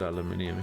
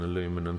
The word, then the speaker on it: aluminium: he liked me except for when I said aluminium he hated me for a bit makes sense